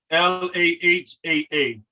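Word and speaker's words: لها: It's still gonna be pronounced laha, but when you write it, you just show possession, if that makes sense. It's only for, you only spell it like that just in writing, but it's pronounced laha, and that means hers.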